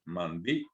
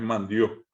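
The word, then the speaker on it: mandi'o: Se dice mandió, allí con un puzó. No se olviden que cuando ponemos el puzó separamos la voz. Mandío, no es mandió, no es mandió, sino mandió, dio.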